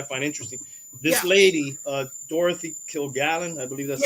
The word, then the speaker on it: Kilgallen: This lady, Dorothy Kilgallen, I believe that's how you pronounce her name. Yes. Kilgallen.